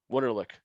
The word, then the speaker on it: Wunderlich: Wunderlich. Yeah, in the house. Yeah, it's German, so most people don't.